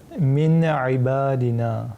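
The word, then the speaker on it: من عبادنا: Effectivement, après le nun sakin, nous avons la lettre ain. Et ain, est-ce qu'elle fait partie de cette famille huruf al-idhar? Oui. Effectivement, elle fait partie. Et donc, on va dire min ibadina. On ne va pas ni prolonger ni appliquer le runna.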